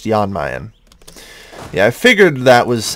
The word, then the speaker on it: Jan Mayen: Yeah, okay, apparently I'm being told it is pronounced Jan Mayen.